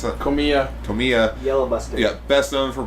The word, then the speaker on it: Komiya: How you pronounce that? Komiya.